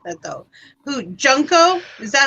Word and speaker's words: Junko: Who Junko? Is that how you say her name? Junko?